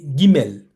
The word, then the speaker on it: Guimel: lettre G tout cou mais il s'appelle gu deux syllabes pour composer la seule lettre G on est obligé de dire Guimel don deux syllabes c'est